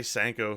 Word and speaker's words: cinco: do you say something i say sanko like sank at the coffee number five for me